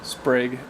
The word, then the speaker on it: Sprague: in a tiny town sprig is the way it's pronounced there's no campground 25